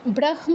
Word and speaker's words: ব্রহ্ম: হ এর সাথে যদি কোন অনুনাসিক ধ্বনি যুক্ত থাকে হটা আগে মটা পরে মানে অনুনাসিক ধ্বনিটা পরে উচ্চারণ করতে হয়। তো এই কষেত্রে ব্রাহ্ম না হয়ে ব্রাহ্ম হবে।